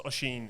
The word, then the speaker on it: Oshin: there's plenty of it worst mispronunciations so it's oshin is his name yeah um we gave